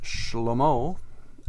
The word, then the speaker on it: Shlomo: The Hebrew pronunciation of Solomon is Shlomo. You've heard of the word peace in Hebrew.